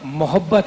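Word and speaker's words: محبت: और मोहब्बत है, मोहब्बत मोहब्बत है, मीम पे ज़बर है.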